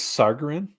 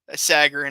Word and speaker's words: Sagarin: Is this Sargarin? Sagarin.